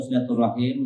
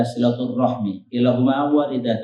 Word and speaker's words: silaturahim: Jemaah sekalian semoga dimuliakan Allah subhanahu wa taala istilah silaturahmi atau silaturahim merupakan sebuah istilah yang sudah familiar buat kita. Tentu ucapannya, pengucapannya ada dua. Ada silaturahim, ada silaturahmi.